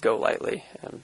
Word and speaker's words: Golightly: Because I think initially I pronounced it with the emphasis on the go, but it's Golightly, right? Yeah. My dad's side is all named Golightly, obviously, but I've had people call me Golightly, a whole bunch of different mispronunciations, but it's just Golightly. Just kind of say it as quick as you can.